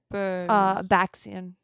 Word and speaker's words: Baxian: Baxian.